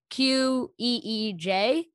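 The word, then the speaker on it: qeej: It's I don't know what it's pronounced, but it's Queej.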